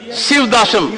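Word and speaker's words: Sivadasan: Shivdasam. Yes. The pronunciation is the matter, sir. Go ahead. He is Dasan of Shiva.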